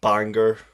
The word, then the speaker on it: Bangor: I was born and raised in Northern Ireland, in a town called Bangor, Bangor, if you want to pronounce it.